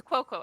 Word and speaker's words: Cuoco: It's Cuoco. At least that's how I've always pronounced it.